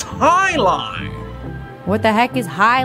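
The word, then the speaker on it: jai alai: against the bellows bloodhounds what the heck is jai a lie it's pronounced highline what the heck is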